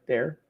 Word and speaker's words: Dare: Dear nightclub or how do you say that? Dare. Dare.